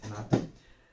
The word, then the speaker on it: Renato: My name is Renato, it's written Renato, but yeah, in the Portuguese Brazilian way to pronounce it Renato.